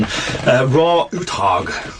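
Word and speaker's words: Roar Uthaug: pronounce this he's Norwegian raw utog um so yeah his first name is literally raw o r o a r so I'm pretty sure I'm pronouncing it right uh he did um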